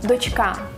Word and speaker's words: дочка: До речі, запам'ятай, що ці слова хоч і схожі, але наголошуються по-різному – «донька», «дочка». Лови ще одне завдання на наголос.